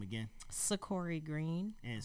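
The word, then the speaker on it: Seccori: to your mic and say your name again sikori green and spell it for us s-e-c-c-o-r-i and green g-r-e-e-n and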